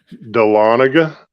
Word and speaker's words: Dahlonega: I've been in the Dahlonega Museum how'd you pronounce it of course that Dahlonega you sure let's rewind this it ain't good